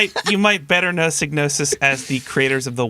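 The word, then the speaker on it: Psygnosis: market um so wait how do you pronounce this company's name again signosis sign with a p yes with a P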